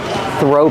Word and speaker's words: throw: They're called throw pillows. Pronunciation. Throw. The th makes a voiceless sound. Just air. Throw. Link the sound to the r.